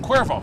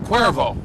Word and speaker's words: Cuervo: by the uh jose cavero how do you pronounce that name again cuervo cuervo because i never had that adult beverage before